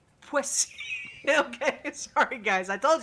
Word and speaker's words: Poissy: Tell me how to pronounce it. Poissy. Poissy.